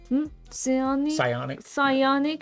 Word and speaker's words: psionic: to this yep um psionic Shield English p is silent don't ask people I